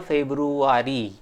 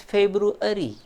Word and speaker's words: February: It is not a February. Generally we used to pronounce it like that, but the correct pronunciation is February.